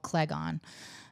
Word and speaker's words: Cleghorn: And there's this McDonald's in an area of Fitchburg called Clegon. Clegon's like all these towns sound like made up towns. Clegon and Fitchburg. It's spelled like Cleghorn though. Okay. Clegon, you know what I mean?